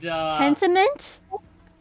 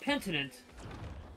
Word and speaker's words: Pentiment: And Pentiment? I believe that's what it's titled. Pentiment, yeah. Not Pentinent. Pentiment.